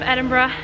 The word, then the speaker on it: Edinburgh: were saying Edinburgh wrong it's actually Edinburgh like suck bruh and Umbra that's how you say it the right way fun bro so we are gonna walk by the Museum of Edinburgh we know it's not